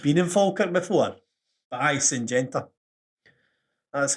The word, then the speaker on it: Syngenta: But Syngenta. That's how you pronounce it.